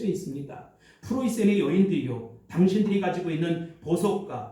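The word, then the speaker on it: Preußen: 독일 정신에 뿌리는 19세기 초 프로이센 우리 정확한 발음은 독일어로 프로이센 옛날에 우리는 풀러시아 이렇게 배웠습니다.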